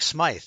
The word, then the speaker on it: Smythe: Frank Smythe, I guess it was. I guess that's the way you pronounce his name. He saw. Smythe, yeah.